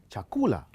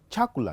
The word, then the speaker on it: chakula: Or think about a stress there. That becomes chakula. You can't put a stress on the first syllable. You can't say chakula.